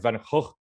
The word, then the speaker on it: Van Gogh: There are many, by the way, pronunciations. I only found out recently for Van Gogh. We've all heard the Van Gogh American pronunciation. I've also heard, apparently, the very strict Dutch pronunciation is more like Van Gogh. But I'll stick with the Van Gogh for now. It makes it a little bit easier.